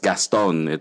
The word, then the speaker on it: Gaston: Though here in the Philippines, it's phonetically, it's just Gaston.